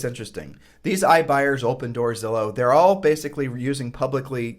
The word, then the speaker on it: Zillow: When Zillow came online in 2007, everyone was like, what the heck does Zillow mean? It rhymes with pillow.